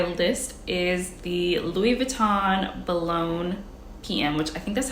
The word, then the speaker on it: Boulogne: Next on my list is the Louis Vuitton Boulogne PM, which I think that's how you pronounce it. Let me see. Boulogne. Boulogne. Boulogne-sur-Mer. Boulogne. See, that one says Boulogne, not Bologna.